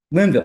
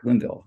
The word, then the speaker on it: Linville: right? The last name is. Did I pronounce that right, Dr.? Linville. Linville. I'm sorry, Linville.